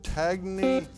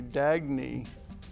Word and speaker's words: Dagny: you're right in this dystopian novel railroad executive tagne a pardon me Dagny Alexander Atlas Shrugged right thank you for getting